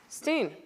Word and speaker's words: Silverstein: grew up loving Shel Silverstein okay or Silverstein did I say Silverstein right Steen I said it right the first time yeah it's always a